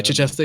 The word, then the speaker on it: Chichester: Is that how you pronounce it? Yeah, Chichester.